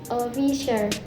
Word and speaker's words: officer: Officer. The stress placed in the first syllable o, so it pronounced like officer.